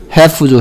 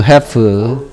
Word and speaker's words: half: half죠, half. health가 아니고 half라고 half. 지금 여기에 half, walk, talk 전부 다 공통점 뭐? L이 소리가 안 나는 애들이죠. half moon이 아니고 half moon이라고요.